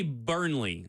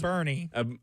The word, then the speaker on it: Burney: I've heard it Amari pronounced Burney. Amari Burney. There's no Yes. L in there anywhere.